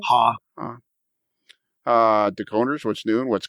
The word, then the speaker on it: Haugh: of KD Couplers, Frank Ha. There you go. Yeah, from Katie. Yeah. How do you say that? HAUGH. Huh? Oh. Ha.